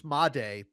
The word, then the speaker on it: Made: Jesus Mday uh for the Brewers. Oh, yeah. But it's spelled Jesus made, which I think is very very fun in and of itself.